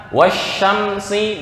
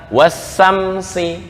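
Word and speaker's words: والشمس: Atau kata wasyamsi dibaca wasamsi, syamsi dibaca titik-titiknya jadi hilang.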